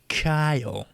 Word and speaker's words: Kyle: too it like me Kyle it's one syllable he makes it like three he says it like